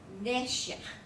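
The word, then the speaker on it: נֶשֶׁךְ: The second one you're going to pronounce harder on the noon and segol. So you go Neshech.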